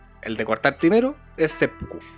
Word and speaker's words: seppuku: lectura de los idiogramas porque Sepuku es la lectura on y omi o del origen o más cercano a lo que se pronunciaba en China y la otra es el kun yomi, que es la la ya como realmente lo hacían los japoneses.